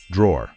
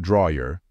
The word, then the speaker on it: drawer: to pronounce it is drawer it should be pronounced as if there's no letter E in this word remember it's not draer it is drawer be